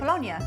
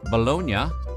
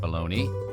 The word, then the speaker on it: Bologna: Bolognia. In Italy, Bolognia, not pronounced Bologna, is primarily a city, not a cold cut.